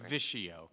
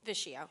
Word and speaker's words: Vischio: Okay, and how do you say that? I just want to make sure. Vischio. Vischio, okay. Good Thank evening, Mr. Vischio.